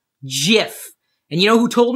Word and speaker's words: GIF: not recording videos and yes it's pronounced jiff jiff and you know who